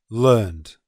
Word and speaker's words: learned: Another example, learned, learned. N is a voiced consonant, so the pronunciation is learned, learned.